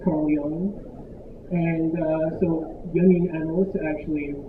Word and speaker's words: Carl Jung: It's not pronounced Carl Jung, it's Carl Jung.